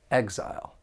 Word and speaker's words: exile: he has chosen Exile this noun has two syllables and the stress is on that first syllable Exile I will never make